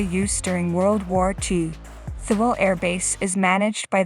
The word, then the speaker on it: Thule: Located in Greenland, about 930 miles south of the North Pole, Thule Air Base, pronounced Thule, is the northernmost military base of the United States.